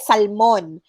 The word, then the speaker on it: salmon: it okay tuition correct it's salmon not salmon in filipino it's okay we call it salmon but then in english it's salmon silent letter l okay photograph correctly pronounced